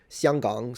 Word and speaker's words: Xianggang: It's kind of weird, because the distance between, say, Beijing and Xianggang, so would be Hong Kong. That's how you say it in Mandarin, by the way.